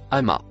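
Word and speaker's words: أما: Le second, en rouge, se prononce ama.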